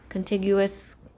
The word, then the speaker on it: contiguous: called The Continuous method contiguous I think it's hard G sound I'm going to pop